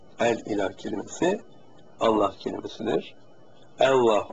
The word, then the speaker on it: Allah: ilah kelimesi Allah kelimesidir Allah Aslı ama Arapçada e a gibi telaffuz edilir e ile a arası ibade Allah söyleyemiyorum benim